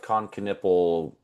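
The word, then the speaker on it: Knueppel: Um but I like the idea of Coniple.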